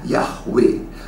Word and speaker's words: Yahweh: Huruf he pada akhir dari suatu kata tidak dibaca, tidak punya bunyi. Itu dalam pronunciation-nya atau pembacanya ya. Misalnya kata Yahweh, Yod He Lau He, terakhir he, bacanya dari kanan ke kiri. Ya, bahasa Ibrani. He pada akhir, maka bacanya Yahweh.